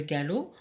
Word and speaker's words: galop: Et le galop, j'entoure la lettre P qui ne se prononce pas.